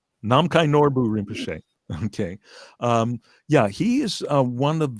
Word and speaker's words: Namkhai Norbu Rinpoche: And I'm going to let you pronounce the name. Namkhai Norbo Rinpoche. Namkhai Norbu Rinpoche.